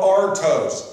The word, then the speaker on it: artos: And when the Lord took the bread, that word bread is spelled artos, A-R-T-O-S in the Greek.